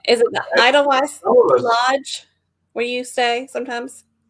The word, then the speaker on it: Edelweiss: Is it the Edelweiss Lodge where you stay sometimes? Oh, the Edelweiss. Edelweiss. Edelweiss. Edelweiss. Edelweiss. Yep. Okay. And remember the W's? The W's are V's. Okay, so Edelweiss.